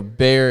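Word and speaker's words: Bexar: is in um and bear is spelled b-e-x-a-r uh so this is some people not from here call it bizarre county i don't know why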